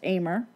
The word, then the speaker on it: Ahmer: Of course, my last name is Ahmer, but it's spelled like Ahmer, but it is pronounced Ahmer.